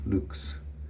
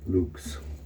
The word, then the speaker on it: Luxe: Chatillon, and then Lux, when basically you say it like Looks, Luxe, or almost like with a little bit of ooh sound instead of looks. Luxe.